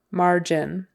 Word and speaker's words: margin: are your margins padded margin Accent on the first syllable margin animation animation Accent on